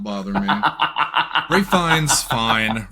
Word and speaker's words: Ralph Fiennes: Rafe Fiennes, fine. Rafe Fine? There's no S at the end? I didn't know that. No, the S is silent.